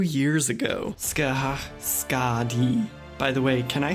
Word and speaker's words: Skadi: The Norse name is pronounced Skad-i, and the closest Japanese approximation was Sukadi, and then most English speakers shorten that to Ska-di, so Sukadi, Skadi, or Skadi, take your pick.